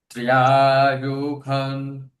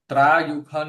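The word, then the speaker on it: त्र्यायुषं: त्र्यायुखं, त्र्यायुखं, त्र्यायुखं, त्र्यायुखं, त्र्यायुखं, त्र्यायुखं, त्र्यायुखं, त्र्यायुखं। त्रायुखं नहीं, त्रा बोल देंगे तो पूरा त का उच्चारण हो जाएगा, त्र का। जबकि पूरा त्र है नहीं, आधा त है।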